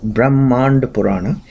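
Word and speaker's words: Brahmanda Purana: Pana called Brahman actually brahmand purana that's how it's pronounced in Sanskrit brahmand purana and it has given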